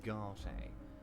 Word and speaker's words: Garte: And he's called Garte, is he? I thought it was called Gart. I've been pronouncing it wrong all this time.